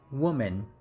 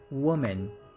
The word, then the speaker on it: woman: first syllable so it's woman woman and right here this pronunciation is more like double o's so ooh so woman woman and